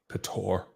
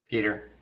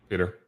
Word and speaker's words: Peter: Is it Peter or is it Petor? Peter. Peter.